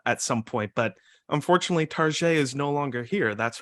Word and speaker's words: Target: that's Target and and Target is a U.S retail chain it's a bit more upstick upscale than other big box retailers and so sometimes people pronounce it as a pseudo French name Tarjay and and so that